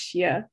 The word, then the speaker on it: Shea: pronouns is currently my my last name is pronounced shia thank you that's so